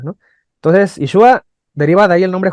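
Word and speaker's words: ישוע: Y curiosamente ese nombre que le pone Josué tiene la misma raíz hebrea que Jesús, que se pronuncia Yeshua, ¿no? Entonces, Yeshua deriva de ahí el nombre Josué y el nombre Jesús, que significa Dios salva, esa raíz.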